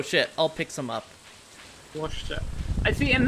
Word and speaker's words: Worcester: Worcester. I see, and the way I'm pronouncing it is the British pronunciation, actually.